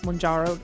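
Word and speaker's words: Mounjaro: So it is a little tricky to pronounce. Mjaro is how you pronounce it. I remember hearing that in the commercial. Mhm. Mjaro.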